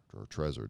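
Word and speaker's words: Trezor: one of them is called a trees or treasure depending upon how i feel like pronouncing it that day t-r-e-z-o-r and it holds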